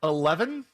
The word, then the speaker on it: E11EVEN: 11?